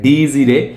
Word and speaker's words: Dies Irae: আছে যেটার নাম হচ্ছে মানে ল্যাটিন এই শব্দটার উচ্চারণ হয় ডিজিরে তো এই সিনেমাটা ফাইনাল এখন কমপ্লিট করলাম ঠিক